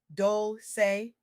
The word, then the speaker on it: Dolce: I'm your host, Dolce, pronounced dol-say, like sweet softness whispered in French, and I'm